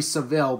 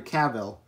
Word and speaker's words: Cavill: Superman portrayed by Henry Cavill yes I finally pronounce his last name right I kept saying Henry Saville but it's Henry Cavill I apologized about Henry